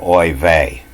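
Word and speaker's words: oy vey: And you'll see this over there on Brooklyn Bridge, oi vey.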